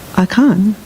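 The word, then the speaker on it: Akan: we light the 11th candle we honor aan pronounced aan a came a k as a path that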